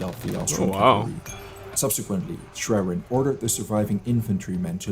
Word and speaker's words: Schwerin: Schwerin? I just use Google Translate right now. They said Schwerin.